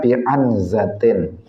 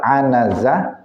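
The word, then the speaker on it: عنزة: Ada sebagian yang membacanya bi'anzatin, padahal anazah dengan anzah itu maknanya beda. Kalau anazah tadi semacam tongkat tadi. Tapi kalau anzah dengan sukun itu artinya kambing betina.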